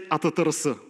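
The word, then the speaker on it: attrs: In Bulgaria, we say "atatrs." It's the attributes library.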